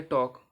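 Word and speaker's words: talk: यू एल D should T ए एल के टॉक सी ए एल F calf A एल एम S arms okay अब एन कब silent रहेगा एम के बाद आया हुआ एन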